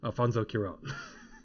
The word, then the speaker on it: Alfonso Cuarón: And then Guillermo del Toro handing out the award, he's like, I can say his name correctly, Alfonso Cuarón.